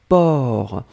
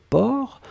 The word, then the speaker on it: porc: Et la dernière chose, c'était porc. Alors souvenez-vous que porc, on ne prononce pas le C final. D'accord ? Mais on doit quand même l'écrire. Donc vous écrivez P O R C.